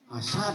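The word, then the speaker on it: حسد: Dendam Hasad mah hasad kok hasud kok? Wal hasud iri dengki. Oh, hasud Pak, bukan hasad. Bacanya hasad, artinya hasud, iri, dengki, gitu.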